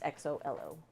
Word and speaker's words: Xolo: We think it's Xolo or Zolo or it's Solo or XOLO. Jolo. Yeah, XOLO. It's an Aztec, an old Aztec language. So supposedly it's like Xolo. It's XOLO.